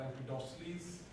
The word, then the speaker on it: Empedocles: discussion on science is with Empedocles, or Empedocles, the true pronunciation for this.